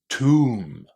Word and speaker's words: tomb: So, first of all, we have a silent B at the end of this word. We don't pronounce it. Many words in English that finish in MB have a silent B. And then the letter O inside here is pronounced as oo. The long oo sound.